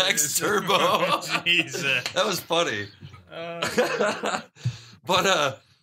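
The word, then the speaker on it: Turbeaux: Bluto character, yeah, Turbo, spelled E-A-U-X, like, did you notice that? No. On his paddle, it's, it's spelled T-U-R-B-E-A-U-X, Turbo.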